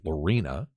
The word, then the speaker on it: Lorena: of south of Waco where we straightened out Snoop on the pronunciation of that it's Lorena last year's state champ